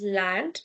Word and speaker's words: Land: We will not read it as land because uh A is ah.